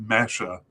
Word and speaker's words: Mexer: And that should be pronounced Mesha. So I'll pronounce it Mesha from now on.